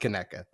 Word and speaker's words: Conecuh: So it looks like Conecuh, pronounced Conecuh.